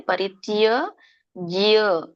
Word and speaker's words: ಪರಿತ್ಯಜ್ಯ: ಉಚ್ಚಾರಣೆ ಸರ್ವಧರ್ಮಾನ್, ವ್ಯಂಜನ ಇದನ್ನ ಪರಿತ್ಯಜ್ಯ, ತ್ಯ ಕೇಳಿಸ್ಬೇಕು ಎಂಡಿಗೆ, ಪರಿತ್ಯಜ್ಯ ಮಾಮೇಕಂ.